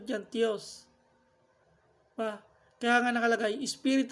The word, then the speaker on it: Theos: Yung pronunciation dyan, Theos.